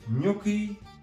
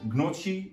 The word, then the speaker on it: gnocchi: to make there, namely gnocchi alla sorrentina and not njocchi as many Dutch people pronounce it. It is gnocchi. Well yes and I normally don't like gnocchi very much, but maybe